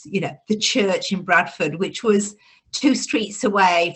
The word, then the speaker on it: Bradford: born and bred in bradford or bradford if you are spelled with a d pronounced with a t if you're a true bratfordian so they that's a